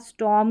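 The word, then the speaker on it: storm: जैसे ये स्टॉर्म अब आर का साउंड ना भी आएगा तो बिल्कुल करेक्ट उच्चारण रहेगा स्टोम करके इसको प्रोनाउंस किया जाता है जो करेक्ट रहता है स्टोम तो यहां पर आर साइलेंट है ये है फॉक फॉक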